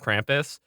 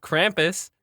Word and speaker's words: Krampus: We know from voice class that our definitive vowel sound is ah. We know this. But Krampus, said correctly by our accent, is Krampus, which sounds like you're like crumping.